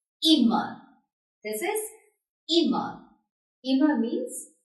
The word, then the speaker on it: immer: So this will be pronounced short. So this is immer.